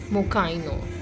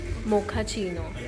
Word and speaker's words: Mochaino: It's Mokaino, I think. Guys, comment down below what this is called. Mokaino or Mochaino. Google just helped us and got to know it is called Mochaino.